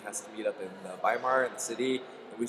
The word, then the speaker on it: Weimar: It's the right way to say it. Mm-hmm. Weimar, not Weimar.